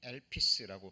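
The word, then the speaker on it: ἐλπίς: 배웠죠 이제 소망이라는 말입니다 소망이 엘피스라고 발음이 되는데요 이게 원어적인 의미는이 둘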